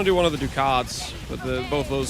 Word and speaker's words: ducat: In it's pronounced ducat ducat ducatti.